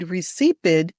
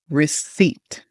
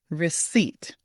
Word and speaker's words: receipt: Now, this pronunciation is a bit tricky because that P is silent. We don't say it at all. We don't want to hear it at all. It should sound like this. Receipt.